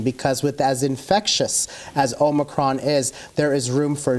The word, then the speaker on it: Omicron: Talking about this pandemic, I know there's a new variant, this Omicron.